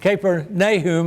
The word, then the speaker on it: Capernaum: nobleman whose son was sick at Capernaum Kirk caper nay whom as father Constantine would pronounce it when he heard that Jesus had